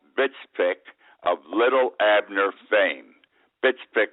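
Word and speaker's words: Btfsplk: of little Abner Fame bitsi is spelled btfs p i k I hope I know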